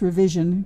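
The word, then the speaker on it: RVZN: day I sing with RV ZN which is pronounced revision karaoke okay um he he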